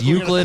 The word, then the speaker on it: Euclid: Yeah, it's Euclid Official. It's EUCLID, Euclid Official.